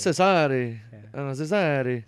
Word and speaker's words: Cesare: His name was Rodrigo Borgias, and he had a son, and for the longest time I've been calling him Cesar, but it turns out it's Cesare.